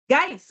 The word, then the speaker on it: Guice: Am I pronouncing your name correctly? It's uh it's G. Gis.